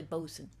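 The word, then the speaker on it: boatswain: and throwing the bosen we call him a bosen but BOS is it looked like it's spelled boat Swain but it's really bosen and they tell you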